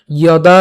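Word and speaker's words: যদা: প্রথমে উচ্চারণটা কেমন হচ্ছে? ইয়দা। কেন? এই যে প্রথমে আমাদের কি আছে? অন্ত্যস্ত জ আছে, যার উচ্চারণটা অন্ত্যেস্তীয়র মতো, অর্থাৎ ইয়র মতো হবে। সোজা কথা, ইয়।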